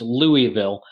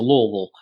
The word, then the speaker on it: Louisville: up in Louisville Kentucky for those in the north that's Lou vil I learned very quickly when I moved down here that you don't pronounce all the syllables within it and you just let it run together into Louisville so I'm trying to